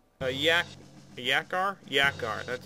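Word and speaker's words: Yakra: Yakar, that's how you say it.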